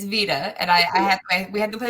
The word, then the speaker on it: VeDA: And so almost always I go to, I don't know if you pronounce it Veda or Vita. Are you good? Do you know? Oh yeah, it's Vita.